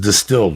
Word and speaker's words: DSTLD: DSTLD, pronounced distilled, offers luxury-grade denim at affordable price jeans that would normally cost you hundreds, dog.